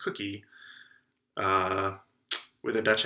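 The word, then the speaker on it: koekje: this leaf which looks looks like it would be hard to pronounce but it's actually pronounced cookie uh with a dutch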